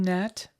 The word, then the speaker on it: gnat: Robin, why don't we pronounce the G in gnat?